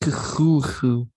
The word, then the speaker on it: Cthulhu: Cthulhu, Ryle, Waknag, Ftogin. Okay, sorry, I got the stuff out of my throat. Ready to begin. It's pronounced Cthulhu.